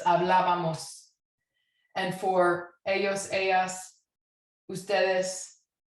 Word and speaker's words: hablábamos: Hablaba, hablamos, hablábamos, right? Accent on the A.